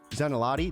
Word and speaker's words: Zanelotti: we are here with our good friend jeff zanelati did i get it right you did you